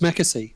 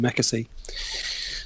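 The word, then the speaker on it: McAsey: fishing Mecca see I was watching say it's Mecca see that's how you pronounce his name Mecca see so yeah I thought look I thought it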